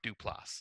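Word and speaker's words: Duplass: the character and I think I said his name wrong last time but uh the director screenwriter and actor was Mark duplas I think I said Joe Dupo or something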